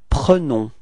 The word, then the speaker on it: prenons: the plural, it's nous prenons, okay, and keep in mind that e is pronounced like e, pre, pre, okay, nous prenons, repeat, nous prenons, yeah, that's it.